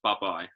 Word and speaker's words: Bubye: one third of buh-bye it's pronounced bye-bye there is a there is a bit of a story behind it we'll talk about that in a minute bye-bye i like that i